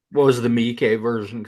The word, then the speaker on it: Miike: I pronounce this man's name correctly? Takashi Miike.